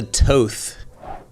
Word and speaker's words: Toth: guest today is Lisa Toth I love saying your last name Toth tea I always tell people phonics tea long o t h and people don't even